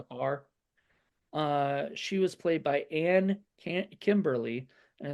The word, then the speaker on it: Kymberlie: She was played by Kimberly, and it's spelled Kymberlie, which is an interesting way to say Kimberly.